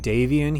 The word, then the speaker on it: Davion: Hawk by the way I'm saying Daven here you know people say different things most people tend to say house davan and I guess that's probably the official pronunciation I grew up saying Daven that was what my friend said so sorry I kind